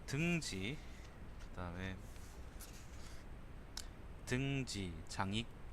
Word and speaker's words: 장익: 그다음에 등지 장익 장억이 아닙니다. 장익입니다.